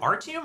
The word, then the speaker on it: Artium: Is it Artium or Atrium? So it's Artium. It's Artium. Okay. It's either Artium or Artium. Okay. But it's not Atrium.